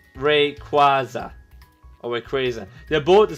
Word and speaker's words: Rayquaza: No, Rayquaza. That's the way I pronounce it.